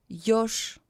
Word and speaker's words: еж: Ж is pronounced as Sh, муж, еж.